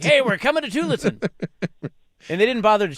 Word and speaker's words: Tualatin: Tualatin?